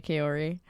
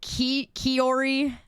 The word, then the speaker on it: Kaori: So, but it was obviously, you know, I just say Kaori. But you could say it however you like, because it works all I guess all 3 ways. in the house. Heck no. Oh my gosh. You say it like Kaori? Yeah, well, I think a lot of us do. Some of you say Kiori.